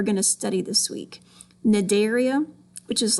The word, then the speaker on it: Cnidaria: Cnidaria, it's spelled with a C, but you pronounce it Cnidaria.